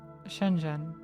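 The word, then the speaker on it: 深圳: Shenzhen you know like you're talking to your best friend Jen Shenzhen.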